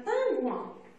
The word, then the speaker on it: pingouin: Quelles sont les lettres qui font le son 1 dans le mot pingouin? C'est I-N et 2 fois. Dans la première syllabe et dans la dernière syllabe. Dans la première syllabe, c'est le son 1. Dans la dernière syllabe, c'est le son ouin.